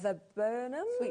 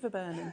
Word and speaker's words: viburnum: So shall we come next to the Forever Flowers and the viburnum? So how do you say that word? Sweet viburnum.